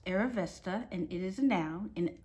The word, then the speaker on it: Arrivista: provides you what it is and how it's pronounced aravesta and it is a noun an unapologetically determined